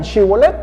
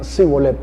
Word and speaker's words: Shibolet: Y cuando les pedían que dijeran Shibolet, ellos decían Sibolet.